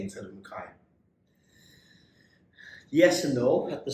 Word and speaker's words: McKay: question do you get annoyed when people say okay instead of makai yes and no at the start i used